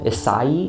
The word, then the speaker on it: Isai: it came from um isai is how you pronounce that but it's just Isaiah is just kind of what he's called and it sounds like